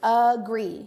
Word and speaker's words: agree: it's at the beginning agree you hear that schwa sound at the beginning how about panda shout